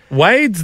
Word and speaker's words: Wade: name it's just Wade Wade's there's only one way to do Wade isn't it it's just w a d e Wade they got Wades over